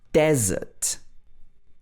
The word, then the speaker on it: desert: So here the stress is on the desert, desert, the desert.